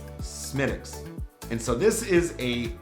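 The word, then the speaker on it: Smithwick's: and lastly we have smitics now i didn't say that wrong it looks like it should say smithwicks but because the irish language does not pronounce the th sound it is smidx and so this is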